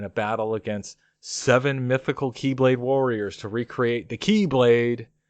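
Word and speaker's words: χ-blade: battle against seven mythical keyblade Warriors to recreate the keyblade as an x-blade pronounced Keyblade which I assume will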